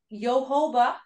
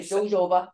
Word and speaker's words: jojoba: out and there's those yohoba did I say it right I like to say jojoba Jehovah beats remember the